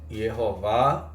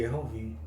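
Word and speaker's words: יְהֹוָה: E a pronúncia também Yehová e Yehovi.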